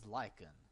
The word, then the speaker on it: Lycan: He also asked me how to pronounce it. Like I'm saying, is Lycan.